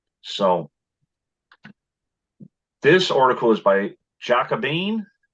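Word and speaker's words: Jacobin: this article is by jacobean is that how they you pronounce it right but that's how we pronounce it so they talk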